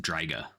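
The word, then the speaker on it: Draic: Um, but it's pronounced Draga.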